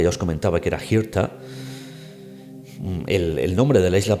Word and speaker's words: Hirta: os comentaba que era Hirta, el nombre de la isla principal derivara hasta Kilda. Hirta, de Hirta, os decía antes que esta H aspirada se pronunciaría Kirta, y que incluso la